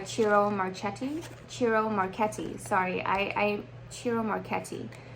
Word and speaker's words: Ciro Marchetti: CIRO Marchetti, sorry, CIRO Marchetti. I believe that's how his name is pronounced because I did Google Translate English to Italian, and that's how they pronounced it when I did that. CIRO Marchetti.